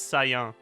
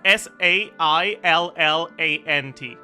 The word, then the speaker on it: saillant: There's a word in French that means the same thing, and it's the same word, but it's pronounced weird, comparatively. It's saillant.